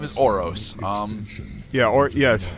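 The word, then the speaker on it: Ouros: That's what his name is a reference to, but no, his name is Oros.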